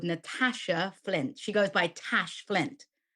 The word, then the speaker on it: Tash: She goes by Tash Flint. but it's written phonetically because of an American accent as Tosh, Tosh. But if I say Tosh, it's not Tosh, but it's because with